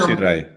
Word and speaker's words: Solapsi-Rai: Solapsi-Rai.